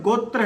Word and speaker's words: गोत्र: साल पुराणा है तो जो यह गोत शब्द है जिसका सही उच्चारण गोत्र है यो ऋग्वेद में